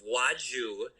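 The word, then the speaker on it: Wladziu: l and the l so it's polish um so the w is a v sound the l has a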